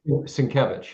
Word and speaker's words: Sienkiewicz: I always say his name wrong. Sienkiewicz, is that right? Sienkiewicz, yep.